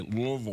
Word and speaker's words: Louisville: been to Louisville yeah do you know how to say it properly you don't say it Louisville you say Louisville no you know what